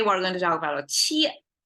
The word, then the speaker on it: 切: Qie, it may be difficult to pronounce because my American-born son couldn't pronounce this particular sound well. And I figure probably English doesn't have it. So qie, qie. Okay, that's how it's sound.